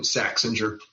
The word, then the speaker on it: Saxinger: We're talking to Rick Saxinger. Am I saying it right? Saxinger. Yeah, the way you first said it would be in German, American Saxinger. Yeah, Saxinger.